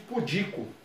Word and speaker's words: pudico: O adjetivo pudico. Uma pessoa pudica, acanhada. A tônica, ela é paroxítona, é a segunda. Contando de trás para frente. Pudico. Não tem acento.